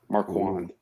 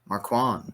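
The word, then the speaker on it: Marquand: wmer time it's like Mark Mark juand Manuel spell that for me m a r q u a n d Marwan Marwan man well yeah he's a Jets defensive coach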